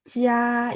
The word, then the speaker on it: 家: 我在公司工作， Oke ya, tadi ada di kalimat keempat, Bapak boleh lihat jia itu datar, jadi nada 1 ya.